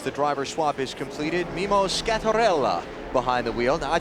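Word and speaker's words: Mimmo Schiattarella: pronounce his name correctly roll the r if you ever want to get pasta again you have to say his name correctly mimo scarella 31-year-old from Milano Italy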